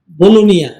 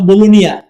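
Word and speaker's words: Bologna: একটা সিটি আছে বাংলাদেশের চট্টগ্রামের মত বাণিজ্যিক নগরী বলুনিয়া ইংলিশে লেখে বলগনা উচ্চারণ করে তারা বলুনিয়া সেখানে প্রোগ্রামে মাহফিলে গেল লোকজন বলল যে আপনাকে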